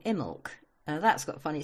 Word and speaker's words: Imbolc: got what we call Imbolc. That's got funny spelling too. It's Imbolc, and we don't say most of it. We just say Imbolc.